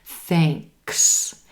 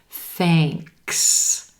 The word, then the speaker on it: thanks: sing and ring thanks then we have a k and an s sound together and you don't want to drop that k thanks thanks thank you to hear